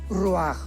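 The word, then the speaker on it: רוח: parte espiritual que es la palabra roach, que se pronuncia roaj.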